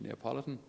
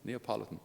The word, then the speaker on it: Neapolitan: Neapolitan. Neapolitan, the priest from Naples.